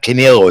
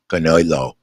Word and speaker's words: Canelo: Ricky Ricardo also says it's not Canelo it's Canelo you know in the Spanish talk all right well well